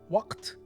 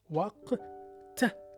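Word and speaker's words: وقت: Waw with an alif, wa. Qaf, the loop in its connected form with two dots over it. Waq. T. T is the Tupperware letter with two dots on top of it in its full form. Waqt. And that's it.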